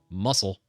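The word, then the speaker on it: musl: glibc is used in their alternative, muscle. That's how it's pronounced.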